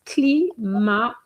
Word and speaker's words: climatiseur: And just to respond to a question, the pronunciation is climatiseur.